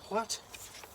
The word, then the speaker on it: Hwæt: It's because pronounced it rhymes with cat. It says there, so Hwaet.